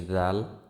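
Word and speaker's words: ذال: তারপরে আসি জাল। জাল উচ্চারিত হয় জিহ্বার আগা সামনের উপরের দুই দাঁতের আগার সঙ্গে লাগিয়ে উচ্চারিত হয়। আবার বলি, জাল উচ্চারিত হয় জিহ্বার আগা সামনের উপরের দুই দাঁতের আগার সঙ্গে লাগিয়ে।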